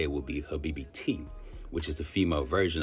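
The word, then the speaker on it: habibti: She said if because if you were then the proper way to say it would be habibi t which is the female version of habibi.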